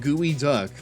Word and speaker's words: Geoduck: Geoduck is the world's largest burrowing clam. Its sashimi is a Seattle specialty. It's actually pronounced gooey duck, but of course is not related to the birds.